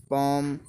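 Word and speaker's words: palm: देख लेते हैं जैसे कि should, should, could, half, calf, पॉम, arms. तो जिसमें जब भी एल आ रहा हो तो ये हमारा बोला नहीं जाता।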